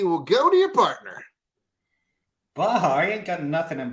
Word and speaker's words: Baja: Which James Bond film ended with Bond's destruction of Blofeld's oil rig off the coast of, and I believe it's pronounced Baja? Baja. Verified.